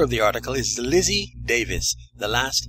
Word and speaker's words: Davies: And the writer of the article is Lizzie Davies. The last name is spelt D-A-V-I-E-S, Lizzie Davies.